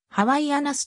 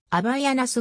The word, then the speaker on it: Havaianas: は公式サイトをはじめとしてハワイアナスと表記する場合も多いがこれ